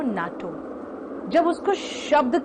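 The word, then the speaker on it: NATO: बोलते हो FBI, CBI, लेकिन इनको UNESCO नहीं बोलते हो, आप इसको कहते हो यूनेस्को और इसको कहते हो नाटो।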